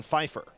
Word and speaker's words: Pfeiffer: Shooting 2 will be Reagan Pfeiffer. First free throw is good. 3 points for Pfeiffer. First name starts with a P, but the P is silent.